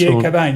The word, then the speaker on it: Cockbain: And sorry, it's Cobain, isn't it? It's pronounced Cobain. Yes. C O C K, but yeah, that's right.